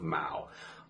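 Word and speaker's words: 猫: So what can I use to signify the pronunciation of Mao? I usually think of Mao Zedong.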